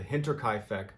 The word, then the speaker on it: Hinterkaifeck: finally attacks this is the story of the hinterkaifeck murders before we get into today i i got it i knew it i pronounced it right you have to like the